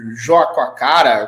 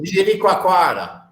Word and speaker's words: Jericoacoara: O nome do lugar é muito difícil, Joaquacara, como é que é a pronúncia correta?